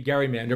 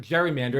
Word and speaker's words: gerrymander: created a port manw marrying Eldridge Gary's last name Gary and Mander as I said should be Gary Mander but Jerry Mander and everyone around the world World uses the term gerrymander what it really means